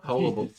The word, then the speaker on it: hullabaloo: A hubbaloo, a hubbub, hubbaloo. Hullabaloo. What you're going Oh, for? you're adding syllables.